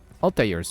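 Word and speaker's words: Altaïr: I feel is, like, Altair's name. Some might pronounce it as, like, Altair. I try to go for more of the, like, the ear sound like they do.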